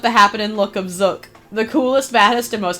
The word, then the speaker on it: Zook: most happening guy around is it zook or zuk I'm going to say zook why cuz look zook yeah butell like look it's zuk like bazooka I would know there's a Skylander named zuk it's spelled like look it's also smell like bazooka Z sorry doesn't begin